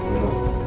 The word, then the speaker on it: know: No. Look, starting with K, but here pronunciation is like no. Here is pronunciation like no. Look that. Here is silent K and W.